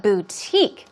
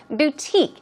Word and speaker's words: boutique: What about boutique? Let's practice the pronunciation. Boutique. It's a e sound. Long e.